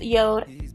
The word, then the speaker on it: Jord: that I received from Yode. Yes, I know it's spelled J-O-R-D, but it is pronounced Yode.